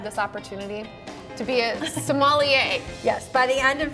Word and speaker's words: sommelier: I'm very blessed to have this opportunity to be a sommelier.